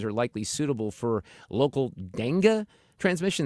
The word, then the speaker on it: dengue: That's how you pronounce it, like dengue fever or something like that. Dengue, that's it. Thank you, Fred. I knew it was dengue, like I said the first time.